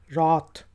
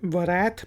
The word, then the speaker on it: wrath: इसके बाद वर्ड है WRATH, रात। रात, तो ये वरैथ भी नहीं है, रैथ भी नहीं है, ये रात, गज़ब, रात।